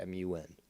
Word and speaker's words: Mun: the moon or the mun spelled to m-u-n it's supposed to be pronounced mun but you know it